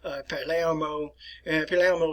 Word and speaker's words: Palermo: And I will pronounce these in Italian for you. Venetia, which is in the north and the eastern parts of the Italian peninsula. Genova, Milano, Bologna, Palermo, which is in Italy,